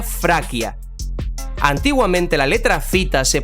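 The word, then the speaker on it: Фракия: De hecho, en ruso, por ejemplo, Tracia se pronuncia Fraquia.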